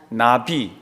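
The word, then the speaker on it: נביא: 사람들에게 전하는게 선지자나 그런데 선지자가 히브리 말로 뭐라 그랬죠 나비 한번 따라하다 나비 나비 나비나비 요게 우리가 보통 말하는 나비야 나비야 할 때 발음은 같습니다 근데 악센 액센트가 틀립니다 우리는 나비 할 때 액센트가 앞에 가잖아요 선지자는 어떻게 해요 나비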